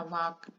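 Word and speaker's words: walk: जैसे इंग्लिश में आप पढ़ते हैं ना वाक, WAL के वाक, एल की आवाज नहीं निकलती, एल साइलेंट हो जाता है।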